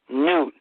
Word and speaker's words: Nut: Newt. It's pronounced Newt, but it's spelled N-U-T.